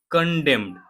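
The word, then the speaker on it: condemn: कह रहा है फॉरेन सेक्रेटरी विक्रम मिश्री यानी विदेश सचिव विक्रम मिश्री कंडेम्ड। कंडेम मींस क्या होता है? निंदा करना। अब देखो कंडेम में एन जो लास्ट में है इसको हम प्रोनाउंस नहीं करते हैं।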